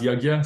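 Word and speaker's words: यज्ञ: The word for sacrifice is yajna. In transliterated to English, it's usually spelled as Y-A-J-N with a little tilde on it, A, kind of a funky word, but it's pronounced yajna, sacrifice.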